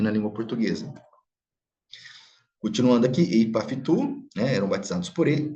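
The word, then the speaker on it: ὑπ' αὐτοῦ: Nós percebemos que a vogal da preposição, ela é assimilada, ela cai, porque ela é seguida por outra vogal. Então, fica ipaftu, ok?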